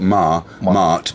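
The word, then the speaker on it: Maat: That's the way it's spelled Mart, but actually it's pronounced Ma, the goddess of control and justice.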